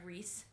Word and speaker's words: Rhys: Sorry, Rhys, as per our earlier discussion on pronunciation.